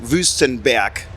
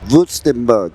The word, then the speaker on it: Wüstenberg: Wüstenberg. Wüstenberg.